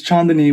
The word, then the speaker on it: Chandni: our last name is chandani uh and i guess when you're when you're speaking in hindi it's chandni when the way you pronounce it so um i think